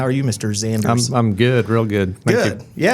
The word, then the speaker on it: Xanders: Joined with Brad Xanders, spelled X-A-N-D-E-R-S. Also not phonetic. This is one of our first things we have in common. How are you, Mr. Xanders?